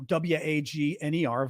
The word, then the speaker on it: Wagner: they're called the Wagner group uh you know w-a-g-n-e-r Vaught but it's pronounced Wagner in Russia and um they have